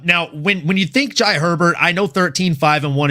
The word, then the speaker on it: Jai Herbert: Jai Herbert is is the right way to say it.